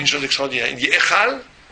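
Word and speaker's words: היכל: Mais il dit Echal, il dit une chose extraordinaire, il dit Echal, il y a un E qu'on prononce mais qui ne s'écrit pas, qui est caché, un Yud.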